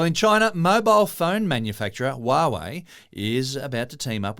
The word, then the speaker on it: Huawei: for them well in China mobile phone manufacturer Huawei is about to team up with cherry Auto